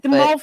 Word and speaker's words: mauve: The mauve thing, I've got to be honest, the amount of people that I'm sitting there going, it's mauve. Mauve. It's a French word.